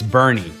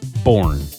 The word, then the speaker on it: Boerne: Most people mispronounce it as Bexar County. It's Bear, but not the same goes for Bernie. It's Bernie, not Boerne.